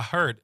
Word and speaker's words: heard: So, I heard here instead of the I say ah.